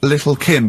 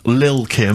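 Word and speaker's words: Lil' Kim: Now, Steve, I see there it's a track by Little Kim. But how are you pronouncing it? I'm pronouncing that correctly. Lil Kim.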